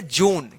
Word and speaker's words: June: जैसे JUNE, इसको क्या पढ़ेंगे, जून, क्या पढ़ेंगे, जून, क्या पढ़ेंगे, जून पढ़ेंगे।